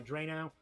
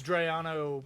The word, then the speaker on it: Drayano: Yes, it's Drayano because everybody shortens it to Dre.